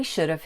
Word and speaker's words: should have: have and shouldn't have we usually pronounce have like the word of remember the word is